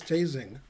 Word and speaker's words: Thesing: That's funny because when I played in the Bundesliga, one of my teammates was Matthias Tasing. Although he didn't spell it like teasing, but pretty close. It was Thesing.